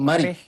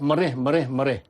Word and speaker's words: marik: Marik ni dulu kita jawab mereh. Mereh, urat mereh sebenarnya tak tepat mereh. Ejaan dia mim alif ra ja ada hamzah tu marik. Jadi dalam jawapan kita mesti marik, M-A-R-I-K. Marik dengan menggunakan alat yang tajam dengan niat kerana Allah.